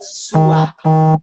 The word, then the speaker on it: Svadhyaya: O V do Svadhyaya vai virar o som de W, então a gente pronuncia sua. Então tenta repetir comigo aí vocês. Sua. E esse segundo A, esse primeiro A da palavra vai ser longo. Sua.